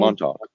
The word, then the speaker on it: Montauk: show, it was actually going to be called Montauk. I think that's how you pronounce that. I can never remember. It's a Montauk. Is that what it's called? Montauk. Yeah, okay. Yeah, you're right.